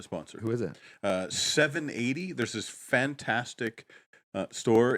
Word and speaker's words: 780: who is it uh 780 there's this fantastic uh store in Edmonton so spelled like the spelled seven and then 80 which is the area code for Northern Alberta so 780 um 780